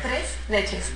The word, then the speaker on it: tres leches: Tres leches.